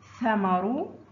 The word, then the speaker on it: ثمر: انظر الفرق بين الثاء والسين في النطق. ثمر.